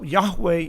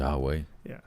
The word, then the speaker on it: Yahweh: Yeah, or Yeah, Yahweh is probably the best pronunciation of it. Yahweh.